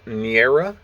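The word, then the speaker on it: Neaera: massacre then we have niera i believe is how it's pronounced n-e-a-e-r-a with uh what's this one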